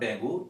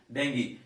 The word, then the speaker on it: dengue: it is written dangu it is not tango it is actually dengue so remember this is